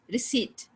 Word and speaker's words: receipt: of the word the n sound is not pronounced damn cooked it's cool cupboard and burp cupboard not cupboard cupboard receipt raspberry right so there are some words that